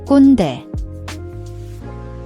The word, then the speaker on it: 꼰대: The kkwon has a KK sound, which is a tense, unaspirated K. Hold your breath slightly before releasing the K sound, like a slight glottal stop.